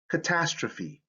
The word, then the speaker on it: catastrophe: So in words derived from Greek, here's the rule: E sometimes makes the long sound at the end of words. For example, anastrophe, catastrophe, hyperbole. So you see that this E has that long sound.